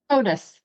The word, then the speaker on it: Hodous: So, uh, can you pronounce your last name for me? Otis.